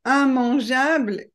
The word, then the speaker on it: immangeable: Seulement dans la catégorie IM, vous avez immanquable, immangeable et immétable. Alors normalement, quand on a IMM, I2M, on doit prononcer IM, sauf pour ces trois mots.